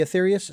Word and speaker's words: Aetherius: was so intrigued by the Athetherious if I'm pronouncing that correctly the Athetherious society.